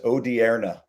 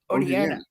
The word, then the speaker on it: Odierna: The correct Italian pronunciation is Odierna. Odierna.